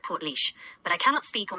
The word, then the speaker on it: Portlaoise: I have noted that Port Louise is pronounced like Portlaoise.